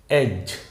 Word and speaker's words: as: আমাদের আজকের প্রথম শব্দটি হচ্ছে এজ। এস উচ্চারণটা হবে এজ। এটা কিন্তু আপনি এস বলতে পারবেন না। এস নয়, এজ।